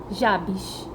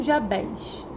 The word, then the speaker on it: Jabez: a um homem chamado Jabes ou jabs tem pessoas que pronunciam duas formas e assim gente é